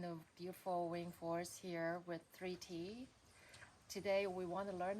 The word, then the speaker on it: Thrity: I write it as a 3 and a T because that's how it's pronounced and spelled, like the word 30 with the I and the R the other way around.